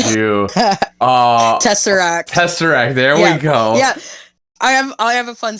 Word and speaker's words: tesseract: okay when i first seen the word uh tesseract i my brain did not process the s before the r it went the other way so for the last like 10 years i've been pronouncing it as terrasect so when i made